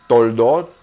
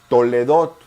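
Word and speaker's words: תולדות: Si la mayoría de las personas dicen toldot, usted dice toledot. No es cuestión de pronunciación si nos apegamos a las reglas gramaticales después de la jolam, la o, los dos puntitos siempre suenan.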